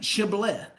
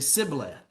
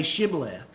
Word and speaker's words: Shibboleth: And they would say Shibboleth. And the Ephraimites would say Sibboleth. Okay, they couldn't pronounce it right. They could not pronounce that sh sound.